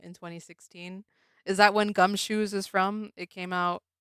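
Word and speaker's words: Gumshoos: It's pronounced gum shoes. It's supposed to be goose shoes cuz it's like a a Mongoose.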